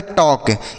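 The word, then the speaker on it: talk: इसे पढ़ा जाता है टॉक। यहां पर जो एल लिखा है यह साइलेंट होता है।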